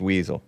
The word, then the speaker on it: Wiesel: do nothing I stepped in that's smart it's pronounced Weasel oh it's pronounced weasel says Wilko that sounds